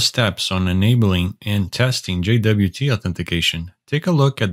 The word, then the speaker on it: JWT: The API key is essentially a JSON Web Token, or JWT, usually pronounced as JWT.